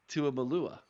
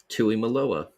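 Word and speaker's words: Tuimoloau: I pronounced it right. I've been practicing. Debatable. And Jack Sawyers. It's Tuimalua. Tuimalua.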